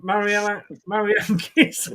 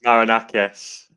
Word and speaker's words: Marinakis: I'm going to pronounce this wrong, I know. But Evangelos Mariankis. I'm sorry. Evangelos Marinakis. Thank you very much for that.